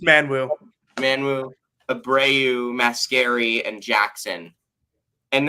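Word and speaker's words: Manyawu: It's Manwu, Abreu, Mascari, and Jackson and then also Nate Ferguson as the sixth guy.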